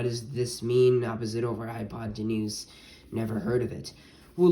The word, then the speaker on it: hypotenuse: It's like high, pot, and then enuse.